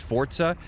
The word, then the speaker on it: Forza: It's pronounced Forza.